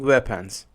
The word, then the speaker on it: weapons: A violent robbery involving weapons. Robbery, the stress is on R, the first R. And weapons is a stress on W.